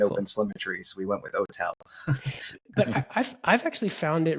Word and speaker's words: OTel: How do you pronounce it for the shorthand? Yeah, OTel, OTEL.